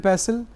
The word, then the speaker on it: pestle: What is a mortar and pestle? Some students might get confused. So, for those students, this is mortar and this is pestle. In pestle, T is silent, mortar and pestle.